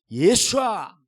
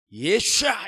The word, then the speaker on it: 예슈아: 예수아 예수아 우리는 그냥 한국말로 예수라 그러지만 본토 바라 말하면은 예슈아 예저 유대인들이 부를 때는 예슈아 이럽니다 그 영화 봐